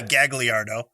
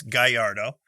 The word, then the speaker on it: Gagliardo: Gallardo would be gagliardo so in in the Americans in the US we would say gagliardo yeah but it's Gallardo uh Gianni Gallardo that Winery